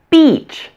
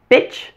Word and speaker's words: beach: Hold all your muscles tight to say beach. Beach. Bitch.